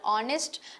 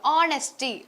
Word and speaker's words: honest: Integrity okay so synonms honesty honesty honest H it is honest okay why the H is silent there so honesty means you